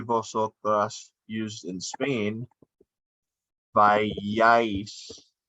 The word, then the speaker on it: vayáis: Vosotros y vosotras, used in Spain, vayáis. Accent in the A. Accent in the second A. Accent in the last syllable of the conjugation.